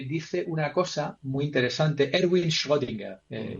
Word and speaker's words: Erwin Schrödinger: Entonces, este hombre dice una cosa muy interesante, Erwin Schrödinger, pronunciado así en alemán, que dice, la tarea